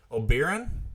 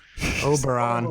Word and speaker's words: Oberon: it the last time o'baron o'baron no oh no Oberon there you go oh that's disgraceful I'm